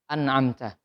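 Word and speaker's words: أنعمت: Sama tadi ada huruf ainnya. An'amta. Bukan an'amta, tapi an'amta.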